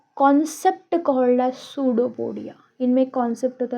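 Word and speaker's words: pseudopodia: यह जो अमीबा है it have a concept called as सूडोपोडिया।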